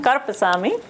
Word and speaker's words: Karuppaswamy: So, again, his name is Karpasami. Those of you that are Tamil, this is not difficult to say, but for those of you, you have to get used to the pronunciation Karpasami.